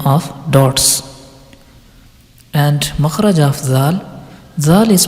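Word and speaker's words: ظ: now the maharaja letter za za is pronounced when the tip of the tongue touches the edge of the lower two front teeth and lightly touches the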